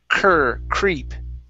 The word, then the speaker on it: creep: have uh creep okay give me a good cr sound here cur creep cur creep there you go good uh